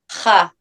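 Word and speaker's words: ח: How do you pronounce that? Ha.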